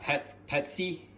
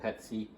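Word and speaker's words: patis: You can use patsy. I think I'm pronounced that right. P-A-T-I-S. That's just a light fish sauce, but yeah, if you're a Filipino, that's what they call it, patsy.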